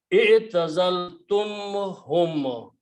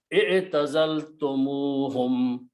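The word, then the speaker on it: اعتزلتموهم: Try to speak this way. I'tazaltumhum. You are breaking the sound in between. Now pronounce with the wow in between. I'tazaltumuhum. It became more rhythm there, more sound, more khirat there.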